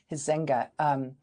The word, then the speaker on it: Huizenga: It's Huizenga, Huizenga.